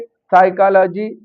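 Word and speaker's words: psychology: किसी भी वर्ड में पी के तुरंत बाद एस या एन आ जाता है तो वहां पर पी साइलेंट हो जाता है। जैसे साइकोलॉजी सो निमोनिया इस तरह के वर्ड हैं।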